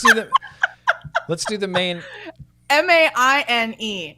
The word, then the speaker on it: Maine: main the main flavor i didn't hear the e on the end of when you pronounced it so i was just i mean it is silent it is silent yeah